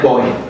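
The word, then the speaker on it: buoy: Oui, tandis qu'en British English c'est boy. So en British English ça fait la rime avec boy.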